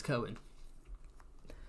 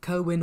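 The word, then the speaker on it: Cerwyn: It's Kerwin. Kerwin or Serwin.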